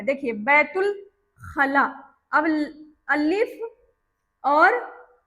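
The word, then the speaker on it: بيت الخلاء: अलिफ यहाँ पर लगेगा पर अलिफ क्या है? साइलेंट है। बैतुल खला, ते को सीधा लाम के साथ डायरेक्ट पढ़ देना है।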